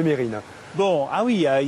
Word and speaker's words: Mesrine: Je vois qu'on garde bien l'habitude aussi de toujours prononcer Mesrine au lieu de Mérine.